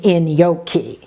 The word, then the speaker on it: gnocchi: I love in yoki as it turns out I didn't know how to pronounce gnocchi I won't even tell you how badly I pronounced it because I still feel embarrassed when I think about how the server corrected me when I ordered the dish pronouncing it the way I thought was right the server pause looked at me and said you mean in yoki clearly I did mispronounce